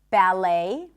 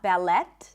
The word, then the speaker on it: ballet: And also in the words ballet, right? Not ballet. In Hebrew, by the way, we say ballet. The T is pronounced. But in English, ballet.